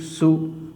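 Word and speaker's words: صُ: Okay, my dear student, this one is sod, and now I'm giving pesh over the sod, and you have to pronounce this one sod pesh su, sod pesh su.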